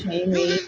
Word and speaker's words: Sheamus: Now, I admit it's a shameful thing trying to figure out the name of a wrestler that rhymes with anus, but the correct answer, who is Sheamus?